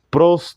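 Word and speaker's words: πρός: palabras era con Dios en el griego se pronuncia de la siguiente manera prost ton feon la palabra pros denota relación íntima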